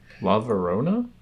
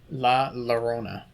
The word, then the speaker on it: La Llorona: La Verona? La Llorona. Llorona. Llorona. It's double L.